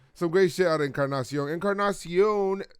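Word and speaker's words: Encarnación: I see your Edwin roll your R's for Encarnacion.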